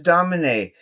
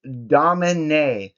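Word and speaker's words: Domine: first note is okay when pronouncing astronomy Domin it is Domin is there is an act I I don't know how well you can see that but there is an accent on the last e which gives it an a sound an a sound you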